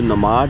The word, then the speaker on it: nomad: जी हां, क्रोशिया का एक वीजा होता है जिसे कहते हैं जी नमाड वीजा या नोमेड वीजा। ठीक है? दो तरह की प्रोनाउंसिएशन है। कुछ इसको नमाज वीजा भी बोलते हैं।